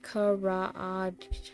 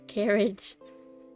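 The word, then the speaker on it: karaage: You let him know it's pronounced Karage. Wait, Karage? I was pronouncing it wrong. Karage? Not carriage.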